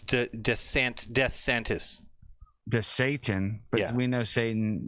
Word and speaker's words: DeSantis: It's DeSantis.